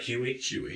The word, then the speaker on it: Huy: And I believe your last name, am I pronouncing it right? Huy? Huy.